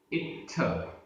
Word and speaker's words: इत्थ: इत्थ, आधता थ, इत्थ।